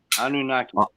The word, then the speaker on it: Anunnaki: Anuki? Anuki? I did it all for the Anunnaki. Okay. Anunnaki.